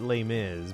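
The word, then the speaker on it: Les Mis: I mean, you pronounce it lay miz, but I don't think it always had I've never seen a a poster where it was just lay.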